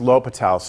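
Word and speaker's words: L'Hôpital: that it's spelled La hospitals but it's it's pronounced latal a show of hands who has not seen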